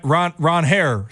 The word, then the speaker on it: Ranger: what the market became, Ranger Suarez, apparently it's Ron Ronair Suarez. Apparently, people have been pronouncing it wrong forever.